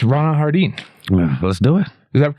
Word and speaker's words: Ronell Hardin: No, you made it French. That's actually pretty cool, but it's just Ronell Hardin. Ronell Hardin. Like James Harden.